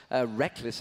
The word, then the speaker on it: Reckless: Reckless, I should say. I've been saying Rickles wrong all the time.